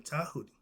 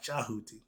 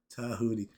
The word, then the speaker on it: Tahuti: The T in Chinese is pronounced D. The D in Egyptian is pronounced with a T. Tahuti. They call him Tahuti. Okay, not Chahuti. Tahuti. The D is considered the T sound.